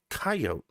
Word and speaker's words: coyote: like the you know the vowel before the consonant is the long vowel or the hard vowel the one at the end it's a silent e i really think that's something we all learned and if you didn't i'm i'm very sorry but there is such a concept as the silent e so it's coyote just the way it is and the